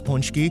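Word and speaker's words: pączki: was punchki day we learned how to properly pronounce punchki you know what we also did ate a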